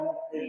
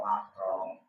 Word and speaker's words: mahram: Wih, Ustaz itu bukan mukrim salah pengucapan. Itu biasanya pengucapan yang sudah dibiasakan. Kalau mukrim itu orang yang memakai pakaian. Kalau mahram itu golongan-golongan sesuatu yang haram publik.